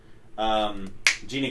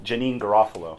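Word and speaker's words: Janeane: Paul Putty, Patrick Warburton, Jeannie Garofalo. That's not how you say her name. Janine Garofalo. It's actually.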